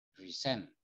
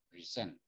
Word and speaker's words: present: Kalau verb itu yang ditekan suku kata kedua di sini. Kalau noun yang ditekan suku kata pertama. Jadi kalau verb dia bacanya present, sen-nya yang ditekan, present.